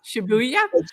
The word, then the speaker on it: Shibuya: How do you pronounce that? Shibuya? Shibuya? Shibuya Shibuya.